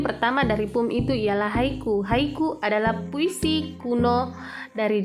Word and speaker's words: haiku: Yang pertama adalah haiku, jadi cara bacanya adalah haiku, free verse, epic, ballad, sonnet, elegy, epitaph, limerick, and villanella.